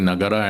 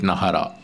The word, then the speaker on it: Nagara: So if it is Nagara in Sanskrit, we cannot use the Tamil rule for saying Nagara and say it Nahara.